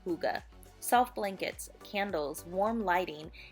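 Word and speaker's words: hygge: one knows how to pronounce it it's actually pronounced Huga and it's all about coziness like you know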